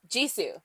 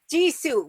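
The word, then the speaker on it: Jisoo: Ji Su. Ji Su.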